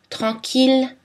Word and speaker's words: tranquille: On prononce L par contre dans les mots mille, ville, tranquille, Achille et tous leurs dérivés, village, million, tranquillement, etc.